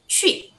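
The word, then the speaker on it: 去: Nah cara baca Q itu bukan cu ya, tapi baca aja ci.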